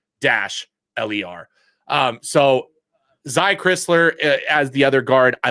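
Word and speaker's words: Crisler: that Chrisler I think I was always saying krisler so well and he thought that too so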